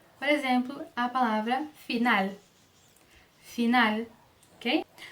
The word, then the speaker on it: final: No final das palavras, ele não vai ser pronunciado como U, ok?